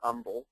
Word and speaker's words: Humble: Uh this first one here is um in a uh town called Umble, Texas. Um which is spelled Humble, but here in in uh southeast Texas we pronounce it Umble.